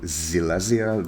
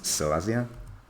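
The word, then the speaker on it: Silesia: uh upper zelazia um which I need to remind myself to stop calling zelazia because um I'm pronouncing the English term for the English name for this as if it is German it's Celestia um and Jordan it's it's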